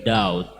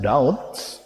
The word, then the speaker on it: doubt: concern himself with ulterior doubt. Please remember that doubt, B is silent, not red. Doubt. Only D like A, U, and T, doubt.